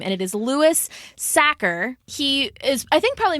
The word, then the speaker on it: Louis Sachar: and this one I definitely know how to pronounce his name, and it is Louis Sachar.